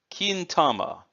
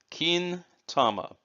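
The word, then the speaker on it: 金玉: written this way and that's pronounced kintama keen tama kin means gold and tama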